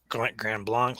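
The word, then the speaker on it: Grand Blanc: how is gr blank Gran Blanc looking people always pronounce it the two ways and it drives me nuts it's either Gran Blanc or gr blank just pick one but no Nick you're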